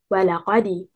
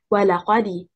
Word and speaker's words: ولقد: The stress is on حركة الواو and حركة الهمزة. The first and third حركة.